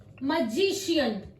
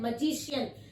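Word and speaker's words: magician: म्यूजिशियन, facial, फिर हमने इसको श बोला, म्यूजिशियन, फेशियल, और है मजिशियन। मैं आपको स्पेलिंग्स भी बता देती हूँ, MAGICAIN, मजिशियन, म्यूजिशियन, FACIAL, facial.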